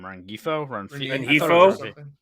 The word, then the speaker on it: Rengifo: Rengifo.